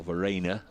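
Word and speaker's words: Verreynne: Kyle Verena, I understand, is the way he wants to go with the pronunciation.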